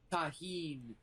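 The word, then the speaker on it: Tajín: Tahine. Is it pronounced? Have I been pronouncing that wrong for the last like 5 years? Yes, it's Mexican, so they would not pronounce the J.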